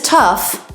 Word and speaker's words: tough: school board it's tough this is one of those o-u-g-h words you may know that the letters o-u-g-h have six different pronunciations this one is tough like enough tough means strong and